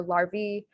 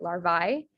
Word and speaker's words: larvae: For larvae, you can also pronounce it larvae.